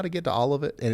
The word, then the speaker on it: Olivet: Vet, like Corvette, Olivet.